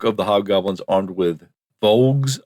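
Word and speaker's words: voulges: And the bulk of the hobgoblins armed with vogs, I believe is how you say the word.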